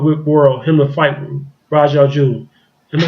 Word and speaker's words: Ra's al Ghul: I've never known Green Lantern, not Green Lantern, but Green Arrow to fight Ra's al Ghul, the Batman enemy.